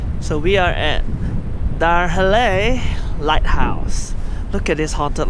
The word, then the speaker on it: Dyrhólaey: Anyway, I realized the pronunciation was called Dyrhólaey, not Dyrhólaey or something like that.